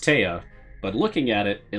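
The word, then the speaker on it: Te'a: goliath's name t e apostrophe a so it's pronounced tea but looking at it it looks like he's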